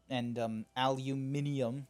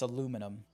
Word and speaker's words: aluminum: It's toilet paper, you I understand Australia likes their little slangs like bottle-o and aluminium. Ugh, it's aluminum. That's how you say it.